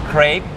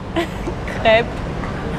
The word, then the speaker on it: crêpe: the most basic ones Crêpe Crêpe Not crepe Crêpe Crêpe Where is the R? The R is missing No, no, I say it Oh really?